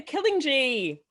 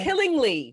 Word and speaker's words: Killingley: Hello, I said that wrong. It's Killingley. It's Killingley. It's fine. Think of Killingley softly. It's the G. It's that extra G that just has you want to pronounce it, but it shouldn't be pronounced.